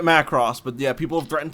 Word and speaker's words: Macross: all right all right matt cross i'll say it macross but yeah people have